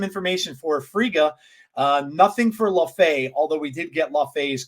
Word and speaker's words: Laufey: LaFay, I think his name is LaFay, or yeah, maybe pronounced that way. I thought it was LaFay, but I could be wrong.